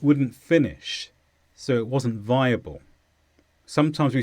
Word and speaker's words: viable: it's an adjective and the stress is on thy viable the main meaning we know